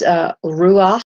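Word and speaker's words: רוח: It's ruach. That's to pronounce it in Hebrew.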